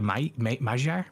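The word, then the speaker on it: Magyar: oh GB GB torpenhow the hungarians say the May the majar majar English is magar it is M or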